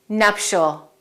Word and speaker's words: nuptial: with this word because the pronunciation is so different from the spelling we say nuptial nuptial and nuptial is an